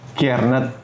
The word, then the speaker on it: Kjaernett: Eh, kalau Lendy lagi kalau Rendy tuh penyebutannya gimana sih kalau dengan nama panjangnya? Karnet. Oh, Ki Karnet.